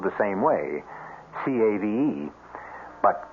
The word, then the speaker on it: cave: with the latin word spelled the same way c-a-v-e but pronounced cave it means beware our cast included